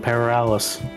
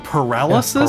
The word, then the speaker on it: paralysis: Parales. Parales. You mean paralysis?